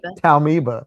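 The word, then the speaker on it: Taumoeba: How does that pronounce in the audio? Taumiba. Yeah.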